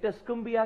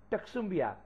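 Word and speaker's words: Tuscumbia: मैं यहां पर बता दूं कि कई कई जगह पर यह टस्कोम्बिया का नाम टक्सुम्बिया प्रोनाउंस किया जाता है, लेकिन मैंने टस्कोम्बिया इसलिए लिया है क्योंकि ज्यादा जगह पर यही नाम, यही प्रोनाउंसिएशन दी जाती है।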